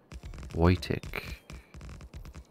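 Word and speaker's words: Wojtek: Polish artillery Squad in World War II it's pronounced the same way uh so wait white Tech voytic waiting okay he was officially enlisted to cover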